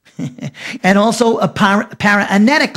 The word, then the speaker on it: paraenetic: we call a protreptic letter and also a paranetic letter. Let me spell the word protreptic. P-R-O-T-R-E-P-T-I-C. Protreptic, it's pronounced.